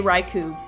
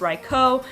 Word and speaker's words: Raikou: kind of like ampharos if i'm not thinking i might say raikou by mistake because i was just so used to saying raikou so even though now I kind of know it's right co I don't have that big of a problem with it or anything but it's hard for me to think that automatically I still kind of automatically default to raikou number 6 drapion this